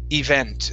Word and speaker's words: event: the word is pronounced event the stress is at the very end instead of event event